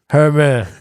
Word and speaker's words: Hoyman: Pronounce it like Herman, but with the Brooklyn accent. So say Herman. Herman.